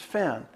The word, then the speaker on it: Fenn: said my name is Finn he said well I've been trying to find fern I saw I'm sorry sir That's not me my name is Finn he had hidden mispronounced my name and so you know